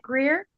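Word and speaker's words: Greear: are you there m did I get the pronunciation last name right yes she said Evette Greer yes good morning good morning that g r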